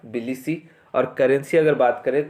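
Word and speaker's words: Tbilisi: पहला वाला टी है बिलिसी, टी साइलेंट रहेगा, बिलिसी।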